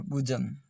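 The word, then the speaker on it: bosom: ये कुछ शब्द है जिसमें ओ का उच्चारण उ हो रहा है, वुल्फ, वुमन, और बुजम, बुजम, बोसम नहीं, बुजम, बुजम, वुमन, वुल्फ।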